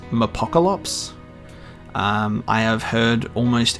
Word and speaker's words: Mapocolops: that stuff so it's just uh and it's pronounced apocalypse um i have heard almost every pronunciation under